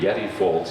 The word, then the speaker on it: Yetti Foulds: And our first storyteller is Yeta Folds who has lived Yeti, pardon me, Yeti Folds, who has lived in Kquitlam for many years.